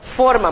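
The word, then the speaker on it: fôrma: Então, forma, mas cuidado porque a pronúncia é fechada, né?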